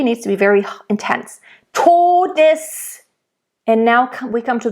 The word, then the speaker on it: Todes: So you want to make sure you get to, nice, closed, O, not todes. That's what I hear a lot from English native speakers.